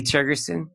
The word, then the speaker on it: Tergesen: Is that how you pronounce his name? Lee Tergesen?